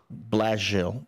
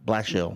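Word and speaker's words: Blashill: I found out how to pronounce his name. How? Blasil. Blill. Blasil.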